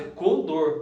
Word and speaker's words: condor: A palavra correta, no caso, é condor, tá?